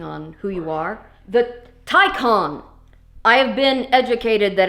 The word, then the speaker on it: Taycan: Today, we are reviewing the Porsche, or Porsche, depending on who you are, the Taycan. I have been educated that it is supposed to be pronounced Taycan, not Taycan or Taycan.